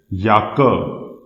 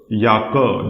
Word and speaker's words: Jacke: But in German, this is pronounced as Jacke. Jacke. This means jacket. Jacke. This is Jacke because this letter J has a pronunciation same as letter Y.